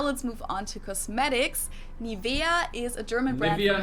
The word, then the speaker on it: Nivea: In German, we say Nivea. Nivea. Nivea. So the emphasis is on the E.